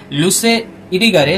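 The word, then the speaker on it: Luce Irigaray: feminist হচ্ছে Helen সিজু উচ্চারণ ঠিক করবে লুসে ইরিগারে লুসি আর জুলিয়া নয় ইউলিয়া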